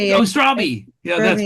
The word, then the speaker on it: Straube: Oh, Strawby. Yeah, that's right. Oh, Lindsay. Strawberry. Strawby. Strawberry. Yeah, rhymes with Joby.